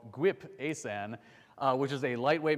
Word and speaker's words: ASan: anyone here used uh I'm going to say this word the way it's canonically pronounced but it's going to sound goofy GP asan has anyone use asan